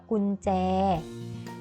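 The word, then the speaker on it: กุญแจ: คุณ แจ นะ คะ ก็ มี ยอ หญิง เป็น ตัว สะกด เช่น เดียว กัน ค่ะ เวลา เขียน จะ เขียน ย่อ หญิง เป็น ตัว สะกด แต่ เวลา อ่าน จะ อ่าน ออก เสียง เหมือน นอน หนู เป็น ตัว สะกด คา เด็ก ๆ แล้ว ทั้ง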